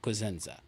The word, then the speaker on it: Cosenza: Cosenza. Yeah. You pronounced the last name right.